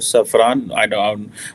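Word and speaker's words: Safran: सैफरान, obviously इसकी exact pronunciation यही होगी सैफरान, कि वो जॉइंटली जो है वो डेवलप करे, डिज़ाइन करे, मैन्युफैक्चर करे इंजन्स जो कि इंडिया को दिए जाएंगे।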